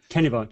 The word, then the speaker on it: Kennebunk: Yeah, on the bottom here, some interesting links, so you can get a live, and how do you pronounce this? Kennebunk? Kennebunk, yep.